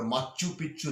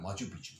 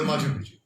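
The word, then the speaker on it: Machu Picchu: মনে করবেন না যদি বলি, এটা মাচু পিচ্ছু না, মাচু পিচ্ছু। আচ্ছা, হ্যাঁ, ঠিক ঠিক ঠিক ঠিক। ওটা মাচু পিচ্ছু।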